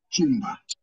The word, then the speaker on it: chumba: So the same way you say choice is the same way you pronounce the CH in Kiswahili, the word chakula or chumba.